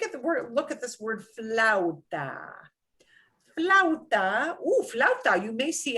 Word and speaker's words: flauta: And what that means is when I have 2 vowels, I will pretty much run them together as much as I can. I will pronounce them both, but I will kind of slide them together.